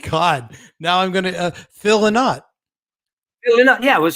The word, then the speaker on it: Lynott: Phil Lynott, or Lynott, however, how do you say that? The Americans say Lynott, and the English say Lynott.